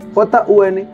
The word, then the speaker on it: jun: J-U-N. Jun. Kai. Jun es 1. Kai es 2. ¿Cómo? Kai. Kai. O sea, se escribe Kai, de que te caíste.